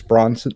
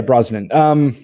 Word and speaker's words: Brosnan: believe it had they remade it with Pierce Bronson and bran I can't pronounce his Rosslyn yes yeah Brosnan yeah oh my god what the name tells